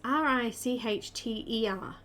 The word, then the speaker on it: Richter: And she is by, how do I pronounce it? Is it Richter or Richter? Richter? It's R-I-C-H-T-E-R, Richter.